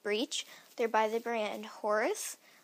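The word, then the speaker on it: Horze: They're by the brand Horse. It's spelled H-O-R-Z-E, and the collection is Kids and Ponies.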